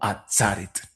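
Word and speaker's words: עֲצֶרֶת: a pensar o decir por qué motivo aparece la palabra atzeret escrita como atzaret. Bueno, es a causa de la pausa mayor o acento disyuntivo que está en esa sílaba donde antes estaba la segol.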